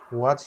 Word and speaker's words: what: H is there, but we don't pronounce H. It should be what.